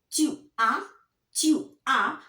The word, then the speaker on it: tu as: Tu as. S. Don't pronounce. Ne prononcez pas. Don't pronounce.